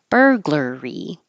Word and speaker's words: burglary: du foda photogenic burglary it's weird it's spelled with a u and an A but it both sounds like e r e r burglar burglary and the person who